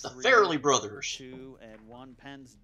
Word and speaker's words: Farrelly: I spelled it F-A-R-L-E-Y. I don't know how to pronounce it. How do you spell it? It's Farrelly. Not Farley.